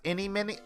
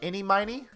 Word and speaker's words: Eeny-Miny: Is it supposed to be pronounced inny-miny? Eeny-miny. Eeny-miny? As in, like, eeny-meeny-miny-mo?